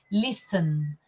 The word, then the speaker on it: listen: few students saying listen because of course there is an S and the T but as you pronounced it it all becomes a big SES listen listen and also